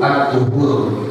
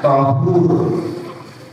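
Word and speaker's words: طهور: Boleh juga kita membacanya dengan memfathahkan huruf pertamanya atau huruf thnya, yakni asaizi yutiru bihi. aur. Namun yang lebih utama yaitu dengan mendomahkan yaitu adzuhur. Kalau kita fathahkan jadinya thahur.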